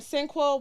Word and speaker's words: Sinqua: Sinqua Walls. Sinqua Wall. How the fuck do you spell that?